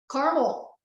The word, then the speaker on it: Carmel: And I always thought it was Carmel. It's Carmel? Carmel. I never knew that. I used to call it that too. I've been saying it wrong. When you head onto the stage, there's a big sign phonetically, Carmel.